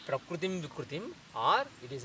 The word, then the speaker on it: prakritim: When you say prakritim, vikritim, there is a stress on the pra and v.